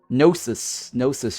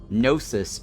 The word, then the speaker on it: Gnosis: You need to graduate a student first to be able to hire staff members, because staff members need Gnosis Shards. The G is silent.